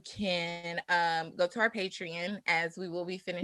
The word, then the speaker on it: Patreon: you can visit our patron um patreon that's how you say it i always say patron because i was like what's going on um y'all can visit